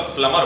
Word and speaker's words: प्लमर: Plumber नहीं, वैसे exact pronunciation उसका प्लमर होता है, प्लमर, है ना, लेकिन आप प्लम्बर कह दीजिए, कोई दिक्कत नहीं।